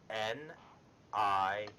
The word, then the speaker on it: Nira: N-I-R-A.